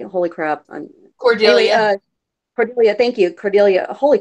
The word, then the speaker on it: Cordelia: So, but where I kind of teeter on that is the fact that Cornelia, uh, I'm saying it right? Holy crap! Anyway, Cordelia.